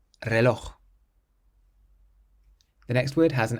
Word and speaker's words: reloj: Similarly, we stress the last syllable on this next word. It means watch, and it ends in a J. Reloj. Reloj.